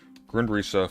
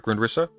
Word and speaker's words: Grundrisse: Grundrisse full text. That's how you pronounce it, right? Grundrisse? I think so. I've heard of Grundrisse. It's not Grundriss, is it?